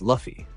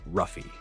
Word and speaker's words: Luffy: you a favor lah Luffy corrects him it's Luffy note both lah and roie are examples of people who pronounce Luffy's name as ruffy page four Loki says